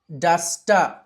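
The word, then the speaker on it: duster: ఇలా వచ్చిన సందర్భంలో చాలాసార్లు ఆర్ ని మనము సైలెంట్ చేసి అ గా పలకాలి బ్రద సిస్ట మినిస్ట కలెక్ట నావిగేట డస్ట డస్టర్ డస్టర్ అంటారు డస్ట రైట్ సిఏ అ ఖ బిఏ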